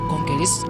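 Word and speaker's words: Calais: The Channel Tunnel, or Channel, connects Folkestone, England with Conquers, pronounced as Conqueris, and France, 31 miles away.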